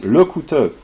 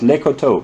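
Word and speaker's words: Lecouteux: caroline watches this uh carolyn your pronunciation of lekoto is is a terrible it's lokuto not lekoto but whatever yeah um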